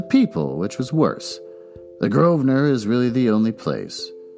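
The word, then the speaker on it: Grosvenor: not a definition but I do have a pronunciation groer groer otherwise it just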